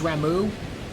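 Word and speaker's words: Ramuh: Rama flung into the void. I will always call him Rama. I know his apparently his proper name is Ramu. I like saying Rama better cuz it rhymes with grandpa.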